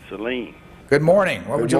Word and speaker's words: Saline: There's the Pedernales River, and our next call comes from Grand Saline or Saline, Texas. We pronounce it Saline.